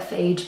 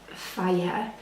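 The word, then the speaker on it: Fage: I used to call it phage, but I think it's pronounced fire.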